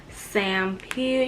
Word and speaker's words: Sampeel: This is how you say it. It's Sampeel.